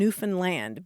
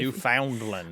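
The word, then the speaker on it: Newfoundland: Newan land they say think of understand and Newan land because they get gotcha they're not happy not New Foundland oh my gosh yeah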